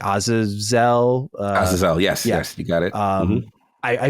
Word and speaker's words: Azazel: to try to bring out, I'm going to butcher the name, like Azazel. Azazel, yes, you got it.